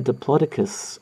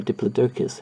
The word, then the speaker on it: Diplodocus: the narrowing down like a diplodicus um or Diplodocus however you want to pronounce it tail I probably will